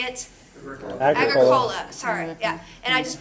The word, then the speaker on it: Agricola: Agricola.